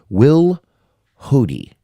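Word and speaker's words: Wilhoite: she is played by kathleen will hoodie i think that's how you say her name not quite sure it's a very tough last name w-i-l-h-o-i-t-e seen her in a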